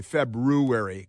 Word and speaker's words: February: like it's not February I like to say February because that's why it's spelled it's not February where